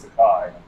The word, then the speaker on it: Tokaji: So, but it's actually pronounced Sakai, and it's like a.